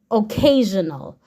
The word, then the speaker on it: occasional: word o a a occasional so the s i o n is working together to create a sound that sounds like this z a n o a a occasional okay m in M